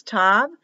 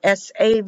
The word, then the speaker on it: Tav: When there's a dagash, a dot, it's tav. When there's no dot, it's a TH, or SAV, I've seen it pronounced that way.